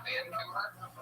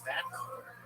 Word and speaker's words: Vancouver: You put the wrong emphasis on the wrong syllable.